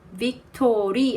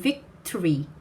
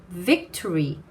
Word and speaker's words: victory: victory 아니고 victory 두 개입니다. victory, tree 이렇게 하시면 돼요. vic 하시고 tree 이렇게요. 해보실까요? victory.